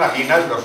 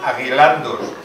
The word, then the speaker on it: aguilandos: Que no son aguinaldos, son aguilandos, porque el pueblo le cambiaba esa sílaba.